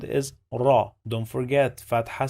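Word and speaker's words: ر: It has the sound of r, like letter R in English. So the sound of this letter is this.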